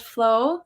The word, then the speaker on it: FLW: else as well because it's still pronounced flow so would be very similar to just flow so I wanted something